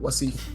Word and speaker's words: Wasif: Exactly how you just did it. Wasif.